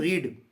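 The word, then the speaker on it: read: देखने में आपको तीनों रीड जैसी दिख रही हैं, लिखने में, लेकिन स्पेलिंग में सॉरी प्रोनाउंसिएशन में जब हम बोलेंगे तो कैसे बोलना है, रीड रेड रेड, लिखने में एक जैसी दिखाई देती हैं।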